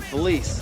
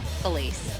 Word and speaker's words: Felice: Which brings us to Felice, head cheerleader and president of the drama club, not to mention that she's also Regina George? Yeah, but her name rhymes with the French word for luggage.